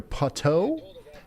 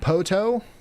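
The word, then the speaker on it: Poteau: It's pronounced poto.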